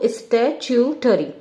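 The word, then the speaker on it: statutory: हमारा नॉन स्टैट्यूटरी body, non स्टैट्यूटरी, स्टैट्यूटरी का pronunciation पे ध्यान दो, स्टैट्यूटरी, स्टैट्यूटरी, स्टैट्यूटरी।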